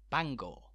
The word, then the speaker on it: Bangor: the sea that being Bangor spelled exactly the same but which derives from Welsh and as such is pronounced slightly differently Bangor of course the impact